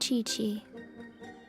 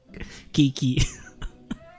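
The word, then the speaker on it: Qiqi: You help Chi-Chi. Only fair. Buti na lang narinig ko. Kasi kung babasahin ko pa lang to, medyo masagwa pakinggan yung pangalan kapag binanggit ko yung una kong naisip na pronunciation. Kiki.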